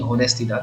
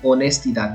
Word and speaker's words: honestidad: It will not be honestidad, it will be honestidad because H is silent in Spanish.